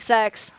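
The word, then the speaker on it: sechs: Sex is six. Yeah, it's pronounced as sex.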